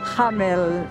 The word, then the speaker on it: Hameln: Hamelin, en alemán se escribe sin la I. Hameln. Hameln, Hameln. ya seguro que se pronuncia más agresivo. Hameln.